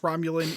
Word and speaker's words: Romulan: was like because like obviously I know it's pronounced Romulan in the Star Trek universe but like I